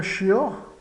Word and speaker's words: chien: Avez-vous un chien? Chien tem a vogal nasal IEN. Então, é o caso do IEN, que é o I breve seguido de ON, de maçã.